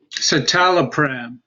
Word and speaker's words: citalopram: long term all right and how do you pronounce it again you know citalopram that name is the celexa okay I agree